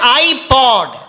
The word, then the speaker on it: iPod: It is spelled POD. పిఓడి, ఐపాడ్. Don't say PAD, it becomes pad. పిఏడి కాదు, So it is iPod.